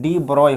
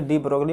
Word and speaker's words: de Broglie: इसका original pronunciation देखा जाए तो डी ब्रोय पढ़ा जाता है इसको। हर कोई इसे डी ब्रोगली पढ़ता है, तो हम भी डी ब्रोगली कह रहे हैं इसे।